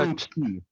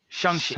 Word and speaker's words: Shang-Chi: So You're that's mispronouncing that. I just learned that. Yeah. today. yeah. So that's a Shang-Chi. oh yes yes. Everybody say it with me. Shang-Chi.